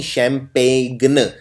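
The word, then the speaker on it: champagne: इसमें पेन की स्पेलिंग है PAGNE, यानी शैम्पेन। इसमें जी आता है, और 90% लोग ये वाला जी नहीं लगाते हैं, क्योंकि ये जी बोलने में नहीं आता है, ये साइलेंट होता है।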